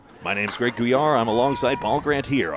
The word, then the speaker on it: Gouillart: If you're watching, may I say my name's Greg Guar.